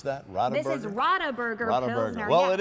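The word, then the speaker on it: Radeberger: How so, do you pronounce that? Rodaburger? This is Rodaburger.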